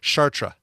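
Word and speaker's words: Chartres: cur like a real answer to how to pronounce uh that that City in France and it's shatra oh it's a French okay good for them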